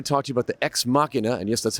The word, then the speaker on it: Ex Machina: Alchemist here to talk to you bout the ex machina and yes that's how you pronounce that studio monitors so why am i